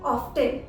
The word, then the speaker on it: often: ऑफन हम UK pronunciation के according बोलते हैं, जबकि यूएस में टी को प्रोनाउंस किया जाता है। रिमेंबर, यूएस में टी को प्रोनाउंस किया जाता है और इसमें टी साइलेंट नहीं रखते हैं, वो प्रोनाउंस करते हैं ऑफ्टन।